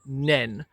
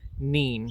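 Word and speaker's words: Nene: But what I didn't realize is that the pronunciation of the name changes depending on where you are on the river. If you're on the Northampton side, it is pronounced as the river Nen, but if you're on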